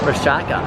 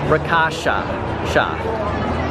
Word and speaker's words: Rakasha: Rashaka. The Wrath of Rakasha. Okay, I've been saying it wrong this whole time. Wrath of Rakasha.